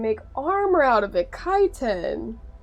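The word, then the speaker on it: chitin: Kiten. That's how you pronounce it.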